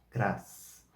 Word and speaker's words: cras: O S no final tem o som sibilante, cras, cras, cras.